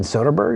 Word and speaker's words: Soderbergh: Steven Soderbergh, I believe is how you say his last name.